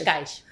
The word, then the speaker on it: Cascais: Somebody pronounce it, please. Cascais. Cascais, Portugal, on the ocean.